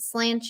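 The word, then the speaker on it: Sláinte: the dragon were excellent Salon Tay is pronounced slanche okay I'm literally I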